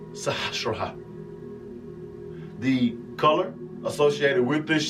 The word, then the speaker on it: Sahasrara: The Sanskrit word is pronounced Sahasrara.